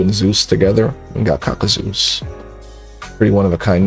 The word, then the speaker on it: kakuzeus: which, by the way, my name is kakuzeus. That's how you pronounce my name, kakuzeus.